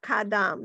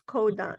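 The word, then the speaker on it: קדם: They're not kadam, it's kodam. Anyway.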